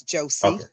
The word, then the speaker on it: Josie: Yes, it's Josie. Josie.